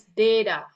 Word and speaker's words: data: And the other one is da instead of da. Oke data. Oke the correct one is data.